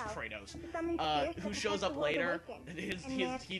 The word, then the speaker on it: Kratos: They pronounce it Kratos, but it's Kratos.